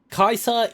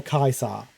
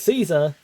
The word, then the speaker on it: Caesar: Oh, one of my favorite subtle details about Fallout New Vegas is um Kaisa is the correct classical Latin Latin pronunciation for the name, not Caesar.